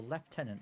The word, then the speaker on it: lieutenant: So, let's go to Lieutenant Hayes or Left Tenant Hayes if you're British. Uh, that's one of the Britishisms that I actually disagree with. Doesn't even make sense. This isn't That's not how it's spelled. It is spelled lieutenant. They say left tenant in.